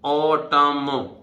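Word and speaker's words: autumn: भाई टम ठीक है और ऑटम ठीक है एन साइलेंट नहीं ऑटम किसको बोलते हैं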